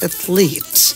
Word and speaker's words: athlete: professor investigate or investigates the professor investigates the athlete many people pronounce it as athlet but is athlete athlete the athlete invite or invites the athlete